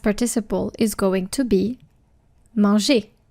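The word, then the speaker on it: mangé: So, for example, manger, ER, the past participle is going to be manger. Same pronunciation, but the verb ends in ER and the past participle ends in E with an acute accent, accent aigu.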